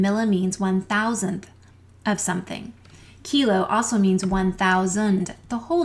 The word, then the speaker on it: kilo: they come together and the hard K sounds are to the left kilo and deca also don't forget that